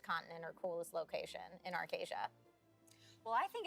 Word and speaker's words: Arkesia: in arcasia for you is it arkesia or arcasia right that's been a debate arcasia is uh is how i've been i've been told that we are pronouncing it today but i say tomato